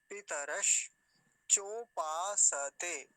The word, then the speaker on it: पितरश्चोपासते: पितरः च उपासते, अगर संधि विच्छेद करेंगे तो उपासते तो बिल्कुल नहीं बोलेंगे, नहीं तो कुछ लोग इसको उपासते भी बोलते हैं, वो सही उच्चारण नहीं है। पितरश, देखिए तालव्य शकार है, आधा है तो आधा ही बोलेंगे, मतलब वहीं रुक जाएंगे। पितरश चोपासते, पितरश चोपासते, ऐसा हो जाएगा।